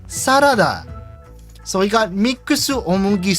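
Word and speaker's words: サラダ: Like, there is no consistency because they have saladozu for salads, even though they have the rough correct pronunciation sarada.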